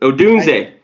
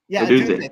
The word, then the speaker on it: Odunze: Odunze. Odunze.